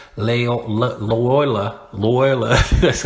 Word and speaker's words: Loyola: old y which is Lord Ola I said lay Ola and I could get that you know what see your people still understand what I'm talking about they know okay he's talking about Loyola so they know the street it's just kind